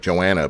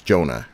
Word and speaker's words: Joanna: I mean, I even had to learn that because it looks like Joanna, but it's Jonah, right?